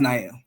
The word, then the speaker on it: Nile: So, yeah, it's pronounced Nael.